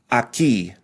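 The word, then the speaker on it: aquí: the silent U Gia Aki another silent U and E so again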